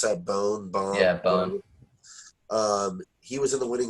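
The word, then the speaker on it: Bohn: Danny, how do you pronounce that? Bone? Yeah, Bone.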